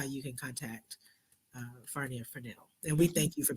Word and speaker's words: Fresnel: And I was going earlier, and it's Fresnel. S is silent.